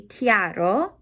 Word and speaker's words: chiaro: It is in general going to be chiaro. Chiaro. The CHI sound like a K, because whenever you got a CHI or CHE, then it sounds like a K.